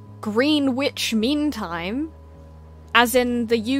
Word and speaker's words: Greenwich: It's not Greenwich, it's Greenwich. And it does not look like Greenwich. No, it's spelled Greenwich.